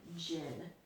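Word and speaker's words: Djinn: was uneven and then Jin the D is silent in this word and Jin is a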